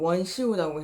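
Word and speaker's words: 文绣: 후궁은 문수라고 해갖고 원수라고도 하고 중국어 발음으로 원시우라고 해요.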